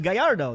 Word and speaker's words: Gallardo: pronounce it Gallardo right let's try that how do you pronounce the Lamborghini Gallardo correct is actually Guyardo that's correct you're almost